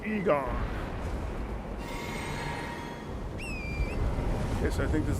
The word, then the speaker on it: Igon: you need to like preserve not right here igon it's pronounced Egon okay so I think this is the wrong